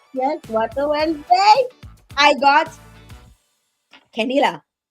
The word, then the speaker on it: Kenila: I got Kenila. Say I said it right? I said it right? Kenila.